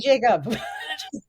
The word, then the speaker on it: Jakab: My my last name is spelled weird. It's J A K A B. And then that's also all my social handles. I've just made it easy. Jacob.